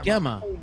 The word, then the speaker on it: Gemma: Yeah, Next- Gemma's trying to fix Logician's pronunciation of her name as well.